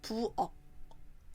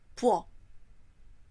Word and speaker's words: 부엌: We write 부엌 like this, but the pronunciation is 부엌. Repeat after me. 부엌.